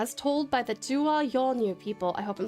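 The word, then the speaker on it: Yolŋu: Um, the N with the hook is pronounced, so it's pronounced Yongu.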